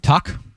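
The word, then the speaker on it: Tuch: Tuck.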